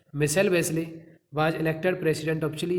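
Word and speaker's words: Michelle Bachelet: That girl, वह लड़की जिसका नाम था माइकल वेस्ले, या मिसेल बोल सकते हैं, यहाँ प्रोनाउंस दे रखा है, मिसेल Wesley, was elected president of chilli in January 2006, chilli की राष्ट्रपति के रूप में मिसेल वेस्ले 2006 में चुनी गई।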